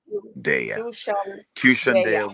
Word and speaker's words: Qshan Deya: Let me give you the proper pronunciation, like the word nation. QSHAN Deya. QSHAN Deya was born in a small little island south of St.